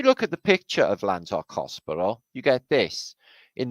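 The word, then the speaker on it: Llandough: It's spelt. But really, we pronounce it Llandoch.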